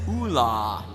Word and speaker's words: Oola: that character for us the official pronunciation for this character is Oola number of dialogue lines